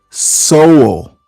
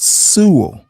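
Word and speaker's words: Sowell: Thomas Soul, not Su. If you've read the man and you revere him, do him the honor of pronouncing his last name correctly. This motherfucker's never read Thomas Soul. If you did, you know his name isn't Su.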